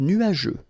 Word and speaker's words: nuageux: Remember, final X here, not pronounced.